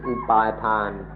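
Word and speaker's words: upādāna: Concept ว่าตัวตนหรือเส้นนี้เราเรียกว่าอุปาดานะหรืออุปาทานหรืออุปาทานหรือ attachment เพิ่งมีเดี๋ยวนี้ This concept of me is called upadana, or in Thai pronunciation upatan, which has just happened.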